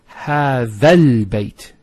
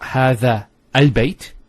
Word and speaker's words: هذا البيت: So how do we pronounce it? It's هذا البيت. So it's not هذا البيت. You don't pronounce this hamzat al-wasl here. So you go from this alif to this lam.